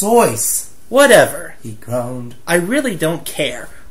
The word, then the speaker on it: Seuss: Dude, it's pronounced Soyce.